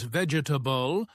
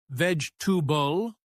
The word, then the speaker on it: vegetable: Oh, and pronunciation mistakes, like saying vegetable as vegetable with all syllables when it's actually pronounced more like vegetable, only two clear sounds.